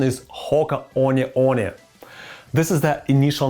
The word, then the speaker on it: Hoka One One: Stop calling the company Hoka One One. The right pronunciation is Hoka One One.